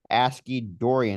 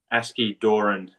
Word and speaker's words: Askey-Doran: the training of the one and only asid Dorian is that correct did I pronounce that right um almost aski Doran so it's it's pretty pretty end well welcome